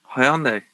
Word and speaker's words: Hyundai: hope those cars actually work unlikely can you pronounce that again for me the that car manufacturer's name hyundai hyundai yeah hyundai i do aluminium for me